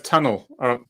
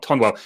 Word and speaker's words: Tonwell: As pronounced as tunnel, not Tonwell.